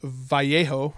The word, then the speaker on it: Vallejo: When you have another company like this other brand, Vallejo, or Vallejo, if you use the Spanish pronunciation, even though this looks blue, there's probably blue, a little bit of red.